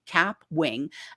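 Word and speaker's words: Kapwing: And so on the desktop, the one I love to recommend for newbies is Capwing, and it's spelled with a K, Capwing.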